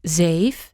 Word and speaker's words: zeef: It is almost an unvoiced S. There's not a huge difference between zeef and safe.